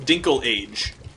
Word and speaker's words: Dinklage: oh delicious delicious beer Dinklage Peter Dinklage he's a good good actor I believe it's actually pronounced dinkle age did you get a